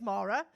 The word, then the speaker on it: Maura: So my name's Maura, and that's spelled M-A-U-R-A. And the reason I have to explain this, every fucking place I go to is because people call me Laura, Maria, Moira, Morag, Nora, Maureen.